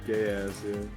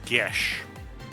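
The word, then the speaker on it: Geass: no yes yeah code gas oh yes apparently it's actually pronounced gesh yes oh my god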